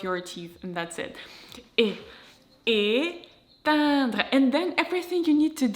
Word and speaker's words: éteindre: And I find it easy to pronounce because e fermé is very close to nasal e sound in terms of your lips position. So it's also your lips are spread, you kind of smile, but your lips are closed together, like e.